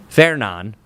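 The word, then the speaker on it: Fernand: Fairon is how you pronounce that one.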